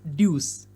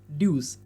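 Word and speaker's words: deuce: Pronounce it एज ड्यूस। ड्यूस।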